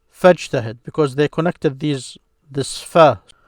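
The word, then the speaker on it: فاجتهد: Arabic, they would say fajtahid because they connected this fa then with this command ijtahid. So notice I said ijtahid. But because of it's a connected hamza, now you do not pronounce it.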